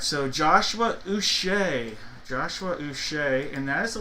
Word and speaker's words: Uche: Speaking of names that are interesting the way to pronounce, this is a Patriots jersey, but it doesn't matter because it is pronounced Uche. Uche. He's not a Patriot anymore, but it is going to be a hit for the letter U.